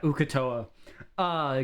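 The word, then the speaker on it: Uk'otoa: How do you pronounce that? Ukatoa. My bad, gang. Not, yeah. The other things that I was saying were wrong. But yeah, Ukatoa.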